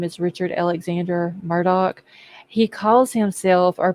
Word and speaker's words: Murdaugh: then his last name everybody pronounces it Murdoch like m-u-r-d-o-c-k even though it's spelled